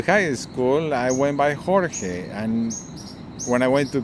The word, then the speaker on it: Jorge: That's Jorge. That's the Portuguese pronunciation.